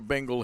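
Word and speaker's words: bingle: like to get a Bengal here meaning a single or a hit really I mean you don't spell that like Bengal tiger either it's b-i-n-g-l-e sometimes used by now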